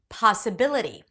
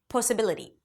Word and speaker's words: possibility: Possible, opportunity, possibility, possibility, and not possibility, naat, and not năət, kaa-fee, and not ʻkɔːfi,